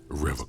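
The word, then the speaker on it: Revachol: He pronounces Revocol SpongeBob. with a hard K, unlike other people.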